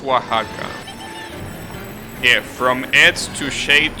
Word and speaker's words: Oaxaca: English will be what Saga but yeah it's pronounced Oaxaca yeah from Edge to shade to age that's